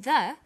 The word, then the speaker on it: the: banana and the bananas there is a difference in pronunciation though when the comes before a vow sound we say the the apples so the before vow sounds and the before consonant sounds let's look at the